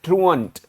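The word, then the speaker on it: truant: इसका जो उच्चारण है वो है ट्रूअंट, और ट्रू और आंट से हमने इसको याद किया था.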